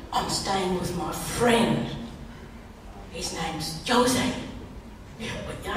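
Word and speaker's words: José: staying with my friend Jose yeah you don't pronounce j with a J you're going to say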